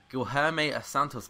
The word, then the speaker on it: Guilherme Santos: Then to finish off the defence, at left-back, we have got Guilherme Santos.